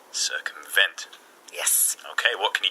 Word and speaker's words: circumvent: on sir and a largest respond vent so circumvent circumvent yes okay what can you tell me about